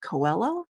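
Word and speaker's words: Coelho: The Alchemist by Paul I believe you pronounce it Coello despite its Global success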